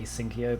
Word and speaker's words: asyncio: and the specifically the async io or asyncio i kind of like pronouncing it asynchio because it's just easier to say um that library which